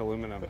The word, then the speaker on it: aluminum: aluminium and you're like you can get rid of the extra syllable imagine your entire life you say an extra syllable every time you say the word aluminum i don't know where